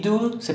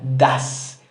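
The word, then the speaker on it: does: agrega y s y do se pronuncia dos no se pronuncia das y se le agrega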